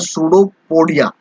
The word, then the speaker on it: pseudopodia: इस स्ट्रक्चर को क्या बोलते हैं, वो बोलते हैं सूडोपोडिया। पी साइलेंट होता है, सूडोपोडिया हम लोग इसको स्ट्रक्चर बोलते हैं।